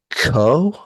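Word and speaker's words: Keough: pronouncing this wrong but Riley Co ke e o u or k o g h Co I'm pretty certain it's co yes okay she plays Kim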